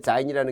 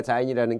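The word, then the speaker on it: Sein: 그래서 이 졸렌과 자인이라는 게 딴 게 아니라 이거 선생님 왜 S 발음을 하네? 그럼 뭐 독일어 하시는 분은 잘 아시겠지만 독일은 S가 Z 발음이 납니다.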